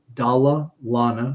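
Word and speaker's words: Dalla Lana: the University of Toronto's dala Lana School of Public Health and it's not Dalai Lama it's dalalana I don't know who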